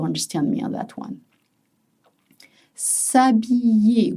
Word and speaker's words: s'habiller: S'habiller with a Y sound. You see it's spelled with an apostrophe and H. You don't pronounce it. S'habiller.